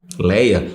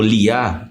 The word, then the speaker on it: Lia: Leia ou Liá, como algumas pronúncias dizem.